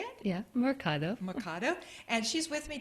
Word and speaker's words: Mercado: Yeah, Mercado.